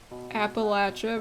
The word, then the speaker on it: Appalachia: here is it like Appalachia versus Appalachia that's a win Appalachia versus Appalachia people up north say Appalachia people South and in the mountains of Appalachia say Appalachia so I've I grew